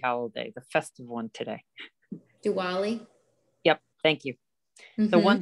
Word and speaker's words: Diwali: proclamation goes with it and happy is it this wally i'm pronouncing wrong the happy holiday the festive one today diwali yep thank you the one that i know